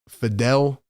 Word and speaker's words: Fidel: love the show RB my name is pronounced uh Fidel Faddle Fidel all right Fidel we'll